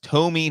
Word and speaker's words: Tomy: By the way, I think it's pronounced Tomy, not like that. I know I messed that up. John knew it was Tomy.